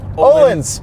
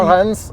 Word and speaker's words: Öhlins: But the suspension is very, very good because we do have Öhlins. Yeah, Öhlins dampers. Öhlins dampers. Öhlins, guys. That's how you pronounce it because I am no longer attempting